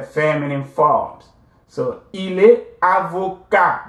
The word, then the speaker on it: avocat: So, il est avocat. The T is silent, right?